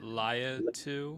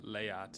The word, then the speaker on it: Laiatu: Is it Laiatu? Latu. Latu. Yeah, it's pretty straightforward based on how it's spelled. Latu. Laiatu.